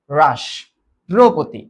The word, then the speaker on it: রাষ্ট্রপতি: কারণ এই মূর্ধ স এই মূর্ধান্য স অলওয়েজ তালব্য স্যা তাহলে রাস রাস্রপতি। রাস্রপতি।